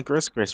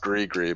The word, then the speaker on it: gris-gris: I got you when I can make my Christmas bags don't worry oh my it's pronounced gris-gris by the way okay gris-gris I